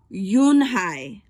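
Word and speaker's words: Unhei: turned to joey she nodded slowly yes it's pronounced yoon hai and it means grace mr kim added yoon hi joey said slowly and this time perfectly it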